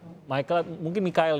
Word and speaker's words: Michael: Selamat pagi dokter, saya Mikael ini bacanya.